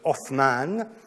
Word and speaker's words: Othman: du nom Osman, qui, prononcé en arabe avec le th de Othman, donnait aux Occidentaux, et les Occidentaux à l'époque c'était surtout des Italiens, une sonorité de th qui est par la suite devenu un double t.